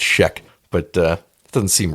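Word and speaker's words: Schaech: I looked it up I heard him pronounce it it's Sheek but uh doesn't seem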